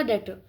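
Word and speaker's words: debtor: ठीक है, फिर नेक्स्ट आपका डेटर। स्पेलिंग इसकी DBTOR है, पर इसको डेटर कहते हैं।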